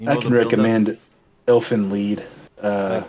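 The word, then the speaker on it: Elfen Lied: I can recommend Elfin lead. Uh like Dragon Ball Z Elven lead. Yeah, Elfin. E L Fen lead, but it's spelled like lied.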